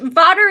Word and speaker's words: Vawter: leadership talk Dr Kate vodter hello and welcome hi Norma hello how do you pronounce your name you can call me Kate Vader is pronounced like water but with a v OTE I want to